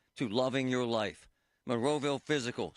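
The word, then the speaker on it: Fyzical: You want a new physical therapy experience. You want a treatment plan centered on you. Monroeville Physical, spelled F Y Z I C A L, is spelled different.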